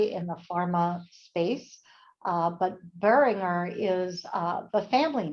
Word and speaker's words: Boehringer Ingelheim: So can you just familiarize this audience a little bit more about Boehringer Ingelheim? Yes, absolutely. And, great job on pronouncing the company name.